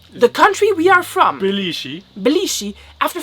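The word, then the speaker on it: 比利時: Like the pronunciation is very different. They use like different tonalities, and they have different like. And if you don't say it like exactly with the exact tonalities, they don't understand.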